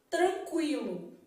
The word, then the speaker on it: tranquilo: um fraco ó tranquilo problema é que você precisa da pronúncia para ver ó tranquilo tá vendo sóa boca Tranquilo então nesse caso aqui eu falo o TR o n você não fala tem um dígrafo aqui ó tran quil tem um ditongo aqui essa palavra tem tudo ó encontro consonantal dígrafo e ditongo tranquilo tá vendo Então na palavra tranquilo eu estou vendo que a letra u é pronunciada de forma fraca mas a gente tem